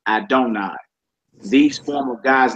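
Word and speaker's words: אדני: Another form of God's most sacred name, which is used in Jewish writings, 2 yods, like the Tetragrammaton, it should be pronounced Adonai.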